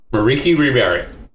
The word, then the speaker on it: Merieke Ri Berit: Dragon Highlander, Sheldon Menery, and his, hopefully I pronounced this correct, Merieke Repo Specialist deck. Did I say her name right, Sheldon? Merieke Ri Berit.